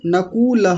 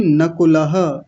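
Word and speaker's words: नकुलः: नकुल नहीं नकुलह। आप बड़ा ऊ बना रहे हैं। जबकि इसमें छोटा उ है।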